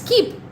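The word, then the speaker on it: Koeppe: watching a video and somebody said keep. I was like uh on all these decades I've never heard of this pronunciation neither by my professors nor any colleague and I've been teaching thousands of students copi copy copy so it's keep huh so keep nodules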